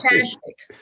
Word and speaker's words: Akashic: How you pronounce it? Sorry, Akashic, called the Akashic.